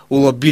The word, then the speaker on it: олаби: е върху първата гласна олаби ли жилата тук ударението е върху а да фръла хайвера същото